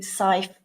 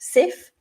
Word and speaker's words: SCI: Council the nmc including the new Scythe pathway which you may have also heard pronounced Sif SCI stands for supporting information from employers and in this session